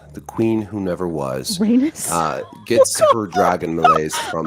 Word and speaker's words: Rhaenys: Okay, so it's like Rhaenys. penis. Rhaenys.